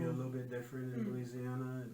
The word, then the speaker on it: Louisiana: American, I don't say Louisiana. I would never pronounce every syllable. Louisiana. It's Louisiana, right? You don't Louisiana. Like you do not pronounce the syllables.